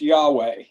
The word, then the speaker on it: Yahweh: The four letters pronounced Yahweh.